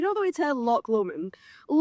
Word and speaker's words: Lomond: Of course we're going to correct your pronunciation on Scottish landmarks. Do you know that we tell Loch Lomond? Lomond.